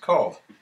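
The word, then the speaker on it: Kahl: And their last name was spelled K-A-H-L, but pronounced Call.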